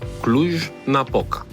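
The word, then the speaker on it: Cluj-Napoca: Mirail, on prononce ça comment ? Clou Napoca.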